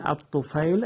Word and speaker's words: al-Tufayl: It can be written with different spellings, like Ibn Tufayl, Ibn al-Tufayl. It is the correct al-Tufayl according to the Arabic pronunciation. Also written al-Tufayl or Tufayl, Tufayl without I.